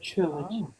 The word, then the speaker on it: trilog: focus come on trilog it's the French pronunciation of Trilogy trilog uh this cover I